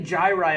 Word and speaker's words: gyri: and there are many gyri on the surface of the cerebrum so and it make this plural we take the u.s. off and put an eye there and pronounce it gyri now in between two